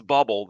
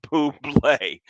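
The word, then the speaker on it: Bublé: august 29th michael buble if you're pronouncing it as bubble that's wrong it's michael poo play and i might go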